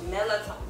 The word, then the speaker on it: Mirlitons: Oh, baby, how do you pronounce that? The Mirlitons? Mirlitons.